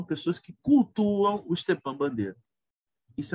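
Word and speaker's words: Бандера: mal crânio chamada Bandeira meu nome é assim que se pronuncia é bandeira bandeira em português E isto é para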